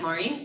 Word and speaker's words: Morin: He pronounces it Maureen. Oh, Morin. Yeah. Okay. Not Maureen, Maureen.